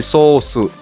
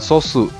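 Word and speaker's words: ソース: Garis lurus yang di tengah itu berarti ada huruf vokal yang double. Jadi dalam romajinya, huruf O-nya itu dua kali, sehingga dibacanya agak panjang. Jadi sosu, bukan sosu.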